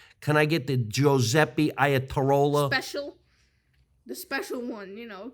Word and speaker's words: Iatarola: Iatarola. Iatarola. You think he's Italian? With a name like Giuseppe Iatarola. I said it right? Iatarola?